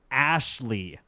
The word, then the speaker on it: Ashhliegh: In parentheses, which is funny because she wanted to name her daughter Ashley, spelled Ashhliegh. Pronounced as Ashley.